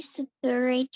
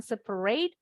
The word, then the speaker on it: separate: We separate refuse from Recyclables. Recyclables. recyclable. Yes, betul bacanya refuse. Nah, yang ini ada huruf hidup yang hilang. Jadi bacanya bukan separate, tapi separate.